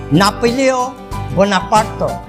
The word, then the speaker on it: Napoléon Bonaparte: এ সত্ত্বেও নেপোলিয়ন বোনাপার্টের স্থানীয় ফরাসি উচ্চারণ নাপোলিও বোনাপার্ত এর শাসনামলে ফ্রান্স একটি সংহত প্রশাসনিক রাষ্ট্র হিসেবে প্রতিষ্ঠা লাভ করে।